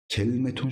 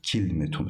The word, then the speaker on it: كلمة: oluyoruz Hicaz latına göre Hicaz lugatında k şeklinde okunur beni Temim lugatında ise kelmet şeklinde okunur beni Rabi lugatında ise y Rabia lügatında ise ne üzerine okuyoruz kil metun şeklinde okumaktır Hatta bunu bir önceki